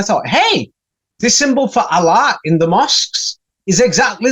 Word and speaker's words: Allah: So the alpha and the omega, it says Allah. It does not say Elah at all.